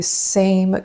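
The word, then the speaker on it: Saem: Let's go back to the same concealer, and it's spelled S-A-E-M, by the way.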